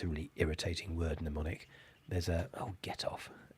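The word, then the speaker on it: mnemonic: it easier it's kind of pneumonic language I'll spell that for you because it's a really irritating word neonic there's a oh get off there's a um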